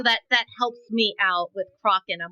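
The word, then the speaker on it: Crochan: How is it actually pronounced? Kraken.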